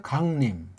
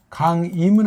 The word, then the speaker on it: 강림: 근데 이런 말이 나오더라고요 강림 예 강림이 강 임은 아니에요 그렇죠 강림 이건 틀렸어요 강림 근데 두음 법칙이라고 하는 엉터리 일제가 들어와서 이게 앞에 나오면 임으로 발음한다이 엉망 진창인 거야 한국은